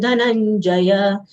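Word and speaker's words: धनंजय: Ma mit Chaptun Dhananjaya. Dhana, both full letters followed by conjunct letter, half nasal ya, full ja, will give stress of half ya over na.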